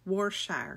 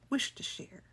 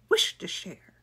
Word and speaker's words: Worcestershire: It says Worcestershire sauce. That's not right. It's Worcestershire. Worcestershire.